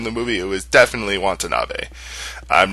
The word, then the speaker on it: Watanabe: Oh, it's Ken Watanabe, or Watanabe. That's how you pronounce it.